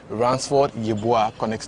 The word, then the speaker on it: Ransford: German national team he goes by the name ransford did I mention your name very well yeah